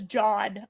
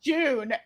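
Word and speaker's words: Joon: Jun spelled J O O N. Oh my god. Okay, that is not how I don't know what I how I pronounced it in my brain. I think I pronounced it as John. I I don't know. That was not So when I heard June, I was I was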